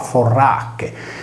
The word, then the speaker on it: fornace: ablativo singolare con fornace, che si leggeva forracche, similmente al sardo furracche, ossia forno per la calce o per i metalli. In tale fornace la consonante N era rafforzativa della precedente R e la sillaba palatale C si pronunciava come la velare che.